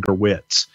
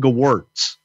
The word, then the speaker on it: Gewirtz: My phone's ringing right now because you said Brian Gerwitz. Is Brian Gewirtz? I know, but it's our rib now because I mispronounce it every time, and then you correct me.